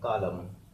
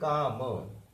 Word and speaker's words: calm: इसको कुछ लोग अक्सर CALM बनाते समय क्या करते हैं, काला बनाया, लम, कालम। तो ये कालम, प्रोनाउंस जो होगा वही होगा। ठीक है। प्रोनाउंस ये कालम नहीं हो रहा है तो हम इसको कालम क्यों बनाएंगे। इसका प्रोनाउंसिएशन हो रहा है काम।